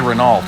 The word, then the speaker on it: Renault: at all those renaults I think some people say Renault but I think the proper way to say it is Renault I don't think you actually say the last letters I should really looked